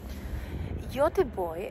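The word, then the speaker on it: Göteborg: bit of the path that I'm going through you're the boy as it would be pronounced Swedish is a very typical Port City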